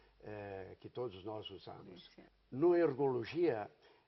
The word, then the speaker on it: Noergologia: que todos nós usamos no ergologia é uma palavra difícil de você pronunciar no começo porque nós costumamos pronunciar com muita frequência palavras como Neurologia Neurologia então no ergologia é uma